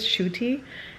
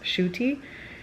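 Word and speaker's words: Ncuti: to say his name I think it is shoy it's spelled ncu t but I'm pretty sure it's pronounced shoy I adore him already just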